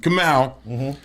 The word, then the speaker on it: Kamau: A lot of people mispronounce it. Kamau.